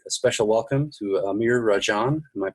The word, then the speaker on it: Amir Rajan: I want to say a special welcome to Amir Rajan. Am I pronouncing that correctly?